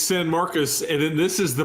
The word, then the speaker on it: San Marcos: How do you pronounce it? It's San Marcos, and then this is the Party School Bowl.